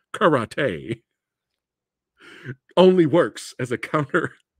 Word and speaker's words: karate: gonna I'm gonna do cat Roddy on you I'm gonna do cat Roddy and he goes huh your mistake Catwoman Rowdy or correctly pronounced karate only works as a